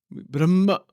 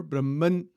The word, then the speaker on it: Brahman: slow what is Brahman Brahma Brahman you know sometimes it is pronounced Brahma or Brahman the n Sound is there also at the end an infinite undiv divided